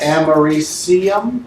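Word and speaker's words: americium: is am all right amarisium right that's how you say it used in smoke detectors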